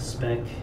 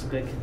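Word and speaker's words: Speick: There are cheaper ones like Perazzo and Speck, or Spick, I think it's pronounced Spick, the German one.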